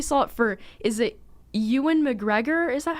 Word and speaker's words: Ewan: but i mostly saw it for is it ewan mcgregor is that how you say his name i always want to say ewon but my brother said it was pronounced ewin but he played uh obi-wan in the prequels